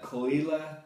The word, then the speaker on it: Caol Ila: there's so many anyway this one is call like c-u-l-l and eli is in like e-e-l-a i guess okay i'm